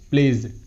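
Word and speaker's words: plays: প্লেজ, পি এল এ ওয়াই এস, প্লেজ, প্লেজ।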